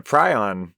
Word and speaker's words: prion: basically um but a prion it might be pronounced pron I've heard it both ways but the prion diseases